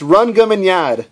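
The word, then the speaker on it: Rhongomyniad: it's just funny or two all right it's run gum in yard okay are you happy now if you guys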